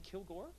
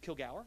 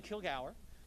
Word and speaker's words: Kilgour: So within that context, I have the great pleasure of introducing Joan Kilgour, who is Kilgour, excuse me. I have to remember it is the appropriate Scottish pronunciation. Joan Kilgour, who is the head of the Ohio River Valley Institute.